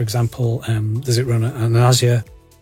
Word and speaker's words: Azure: Does it run on Azure? I use the American pronunciation, Azure, as I would say.